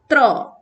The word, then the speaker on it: त्र: उसके बाद है ये अक्षर, आप प्रोनाउंसिएशन करके बताएं मुझे, त्र। इसका प्रोनाउंसिएशन हम ठीक करते हैं, त्र यानी आधा त हलन प्लस र हलन और अ जोड़ के इसको पूरा कर देते हैं हम लोग, त्र।